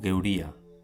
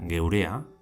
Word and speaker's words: geuria: En batúa sería geurea, que quiere decir nuestro, y en vizcaíno se dice geuria.